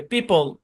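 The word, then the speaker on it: people: Silent ও এর ধরাবাধা কোনো rule নাই, জাস্ট লিস্ট মনে রাখতে হবে। পিপল, leopard, জেপার্ডি, colonel.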